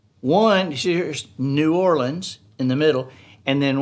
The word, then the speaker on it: New Orleans: new orleans is that the correct pronunciation is right in the middle of two incorrect pronunciations one here's new orleans in the middle and then one is used by tourists new orleans and the other is